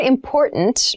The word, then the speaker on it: important: important so the word important means something that we need to consider carefully yes the pronunciation of this word that first T is actually reduced it sounds more like a D in fast speech water is important to